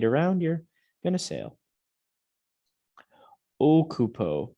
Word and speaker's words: occupo: Occupo, not occupo.